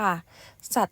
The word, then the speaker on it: สัตย์: คำ นี้ นะ คะ อ่าน ออก เสียง ว่า สัตว์ ค่ะ สัตว์ ตัว แรก นะ คะ ก็ จะ เป็น เขา ซื้อ หา อากาศ ตอเต่า ยอ ยักษ์ การันต์ ค่ะ หมาย ถึง ความ จริง